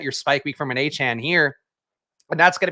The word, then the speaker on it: Achane: no what's it so his name now is Devon a Chan so got to re recondition our brain to say his name the way he wants to be said one good game literally